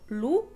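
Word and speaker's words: loup: Por ejemplo, lu, que es lobo, o ku, que es un golpe.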